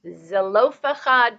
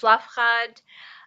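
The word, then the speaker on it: צלפחד: Okay, so the 5 daughters of, it's spelled out in English, I think, Zelophehad, but in Hebrew it's Slafchad.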